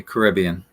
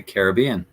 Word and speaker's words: Caribbean: one b in general I'll probably say Caribbean some people would say Caribbean and they would not be incorrect I think there's a